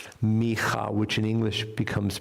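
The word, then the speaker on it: מיכה: This comes from a prophet in the Bible, and the name is Micha. Micha, which in English becomes pronounced Micah, but Micha is a prophet, lives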